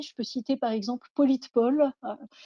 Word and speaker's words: Politepol: Je peux citer par exemple Politpol, hein, s'écrit Politepol, qui permet à partir de l'URL